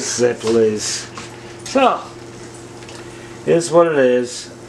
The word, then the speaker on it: zeppole: bag of staples and we all call them zaples as kids but they're actually some people call them zepolis and i was told the proper pronouncing is ziplise so is what it